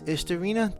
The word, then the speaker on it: Istorina: Hello and welcome to Istorina, the YouTube channel. This is kind of my introduction to the YouTube world. Um, this is essentially it. This is Istorina. That is indeed how it's pronounced.